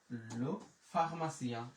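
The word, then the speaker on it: la pharmacie: তাহলে ফা এম আ মা, সে ই ও এন সিয়া, তাহলে লো ফার্মাসিয়া, লো ফার্মাসিয়া।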